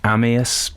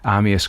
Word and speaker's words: Amyas: So Amyas Northcote pronounced Amyas, I think.